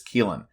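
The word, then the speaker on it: Caoilfhionn: Leapori is Keelin Dunn and that's spelled C A O I L F H I O N. And I looked up the pronunciation. and it is Keelin.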